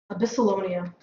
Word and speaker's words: Absylonia: over here man solid abyssalonia is the proper way to pronounce all right um all